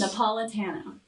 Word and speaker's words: Napolitano: Napolitano. Napolitano. Yes. Tano, not Tano. Tano if you want to be fancy. Tano. Well, you know, Tano, it doesn't matter. it's better than Neapolitan. Like, How often ice do you cream.